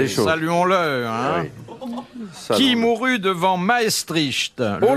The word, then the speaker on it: Maestricht: Qui mourut devant Maestricht ? Oh là maestrich. Maestrich ça se prononce comme ça.